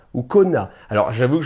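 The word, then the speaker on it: cognat: Alors, j'avoue que je ne sais pas trop comment ça se prononce, moi je pense que je vais dire konya, ça s'écrit C-O-G-N-A-T, les konya, voilà, c'est comme ça que je vais les prononcer.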